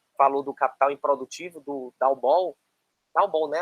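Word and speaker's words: Dowbor: Algo que o livro que você falou do Capital Improdutivo, do Dalbol, né? A pronúncia do nome dele. Acho que é Dalbor, eu ouço das duas formas.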